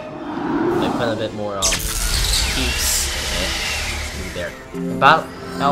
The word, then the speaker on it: Pips: One of the comments is that the yellow power peeps, or any peeps in general, are pronounced as pips. I believe it's pronounced as peeps. I strongly believe it is.